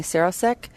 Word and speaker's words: Sarosiek: Bethany Sarosiek, is that correct how I pronounce? Yeah.